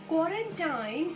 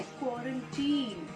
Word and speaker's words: quarantine: क्वारंटाइन इज an incorrect pronunciation. उसका असली pronunciation है क्वारंटीन। टीन एंड not time.